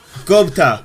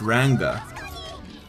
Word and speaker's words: Ranga: cute I love that Gupta ah man I think I mispronounced his name - its Ranga should have said that properly dang this is so